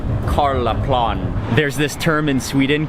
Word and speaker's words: Karlaplan: Hello, quick ride for 2 to Karlaplan. We made it to the station. I think I was mispronouncing it before. It's more like Karlaplan.